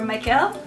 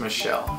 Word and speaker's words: Michel: taking a look at when we went and toured Mont Saint-Michel, or Michael? Michel. Michael. It's Michel. Spelled Michael, but it's pronounced Michelle.